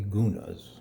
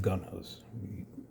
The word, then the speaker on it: guna: in the original title there are three goonas they're called or sometimes they're pronounced gunnas either either neither neither